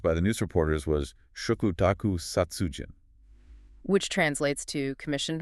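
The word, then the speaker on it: 嘱託: Labor, and Welfare, and he thought the character was pronounced Izoku. Oh, wow. Yeah, it was only later that he learned it was actually pronounced Shokutaku.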